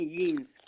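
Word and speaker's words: Jeans: वैसे तो ये जीन्स लिखा है, लेकिन इसको पढ़ेंगे कैसे जर्मन में? यीन्स, यीन्स, यीन्स।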